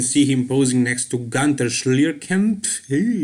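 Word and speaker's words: Günter Schlierkamp: Here you can see him posing next to Gunter Schlierkamp, that is how you pronounce his German name.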